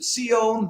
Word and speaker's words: Zion: Zion refers to Zion, that in the Hebrew pronunciation, meaning the city of David, meaning Jerusalem, basically.